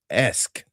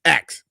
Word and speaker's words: ask: I can't for the life of me pronounce the word ask. A-S-K. It's always axe. A-X-E.